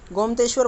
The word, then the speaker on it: गोमतेश्वर: गोमतेश्वर बोलेंगे हम इसे। किसकी बात हो रही है एक बार और देख लेते हैं, प्रोनाउंसिएशन में थोड़ी दिक्कत है इसमें।